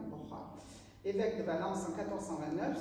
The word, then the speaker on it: Borja: maternel, Alfonso de Borja, toi tu prononcerais bien en espagnol, hein, Borja, évêque de Valence en